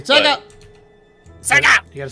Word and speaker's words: Sega: Sega.